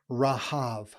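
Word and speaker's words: רהב: ancient Near Eastern world, this Hebrew word, which is pronounced short A's, Rahav.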